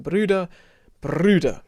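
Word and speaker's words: Brüder: of r but then bruder you can really roll that one and that's an german umlaut where you make an e sound it's kind of back of your mouth e and then you make an ooh face so very good yeah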